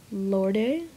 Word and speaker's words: Lorde: going to put royal Lorde I know and I know it's to pronounce Lord I just like saying lordy click download okay and